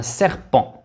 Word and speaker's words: serpent: لاحظوا هنا T لا نقرأها. Un serpent.